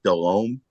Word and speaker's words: Delhomme: I think David's taken a kind of a liberty because I believe it's technically pronounced Jake Delhomme.